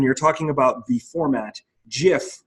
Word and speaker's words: GIF: talking about the format, GIF with the soft G was the preferred pronunciation as per the people who first brought the format into existence. While when you're talking about the culture, GIF culture, you would say it with a hard G.